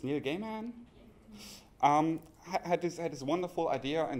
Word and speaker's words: Neil Gaiman: I'm always not sure how to pronounce the name. It's Neil Gaiman.